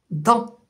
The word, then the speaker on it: dent: Alors, on ne lit pas le G et là on ne lit pas le T.